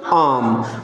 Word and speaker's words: arm: Or A-R-M-Arm. So the correct pronunciation is what? Arm.